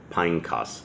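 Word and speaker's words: Phinehas: a hill that belonged to pineas pineos is how that's actually pronounced his son which was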